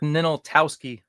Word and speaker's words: Ninaltowski: Ninaltowski is joining the show. How bad did I mess it up? Not too bad. It's Ninaltowski.